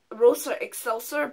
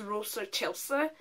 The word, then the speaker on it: Rosa Excelsa: It's Rosa, it reads as Rosa Excelsa, but it's pronounced as Rosa Excelsa.